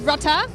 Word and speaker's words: Rutter: And I'm lucky enough to be standing here with Rutter, or Rutter, as it may be properly pronounced, right? Yeah, just like that.